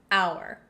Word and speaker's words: hour: reason is very simple we don't pronounce the h in our it sounds like oh you are we totally get rid of the H sound and that's why we say an hour on the other hand